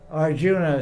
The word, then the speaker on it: Arjun: guy doesn't speak so it's called s Arjun it's spelled Arjuna so West Arjuna it's not it's not correct